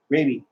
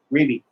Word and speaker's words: Raby: Raby. It's baby spelled with an R. Raby.